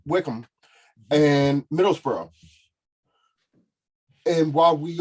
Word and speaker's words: Wycombe: right, thank you for the correction on the pronunciation, Wickham and Middlesbrough.